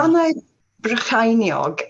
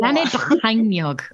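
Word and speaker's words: Bannau Brycheiniog: Can you tell me how to pronounce the new Brecon? Banau Brycheiniog. Brycheiniog is a bit of a in it to it. Banau Brycheiniog.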